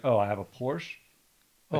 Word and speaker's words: Porsche: Porcachi. I get shot in the head for that one. Porsche, isn't it? Yep. Porsche.